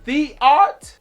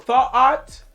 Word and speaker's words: Thoth: The name is Theot or Thoat, but it's spelled like thought. And so the ancient Egyptian god Thoth, the ancient Egyptian god Thoth was the god of auto intoxication.